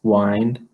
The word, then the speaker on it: wind: and then I hear there's a little line over the eye telling us it's the long guy the science this one is pronounced wined so a cold wind